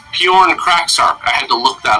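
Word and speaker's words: Pyornkrachzark: It's actually pronounced Bjorn Kraksark.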